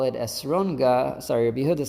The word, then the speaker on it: esrog: And that's why Rebbe Nachman said, "Don't call it esrogah." Sorry, Rebbe Yehudah said, "Don't say esrogah, you should say esrog, just the regular way of pronunciating of saying it."